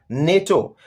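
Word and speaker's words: NATO: Example, मिसाल के तौर पर, नेटो इज an acronym for the north Atlantic treaty organization because we pronounce it एज one word.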